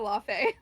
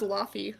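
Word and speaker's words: Laufey: I sing a lot of Lafe. Because she's right. That's how you pronounce Laffy? Yeah. Thought it was Laffy.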